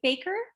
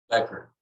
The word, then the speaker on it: Becker: Again you'll have two minutes and we're going to start with Mr, is it, baker? Becker because the a is silent.